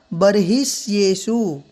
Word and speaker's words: बर्हिष्येषु: जगह, तो यहाँ पर जो विसर्ग था बही ही शब्द होना चाहिए, बही, पर बही को कर दिया है बर्ही, तो इसका उच्चारण इस प्रकार किया जाएगा बर्हिष्येषु।